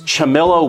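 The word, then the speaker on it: Ciamillo: hobby to professional level that's great it is chamilo Woodworks it's spelled c i a m i l l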